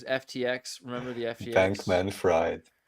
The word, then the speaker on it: Fried: remember the FTX bankman fried well we pronounced it I think freed right isn't it oh that's what you're